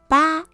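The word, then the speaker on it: 八: is pronounced as a ba is a very lucky number because it sounds like the word fa which means to get rich there are people who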